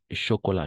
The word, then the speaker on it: chocolat: Chocolat, chocolat, pas no con che, sino con sh, como cuando queremos callar a alguien.